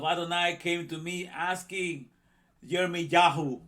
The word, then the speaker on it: Jeremiah: came to me asking jeremy yahoo because this is how you say it in hebrew we say jeremiah jeremy yahoo what do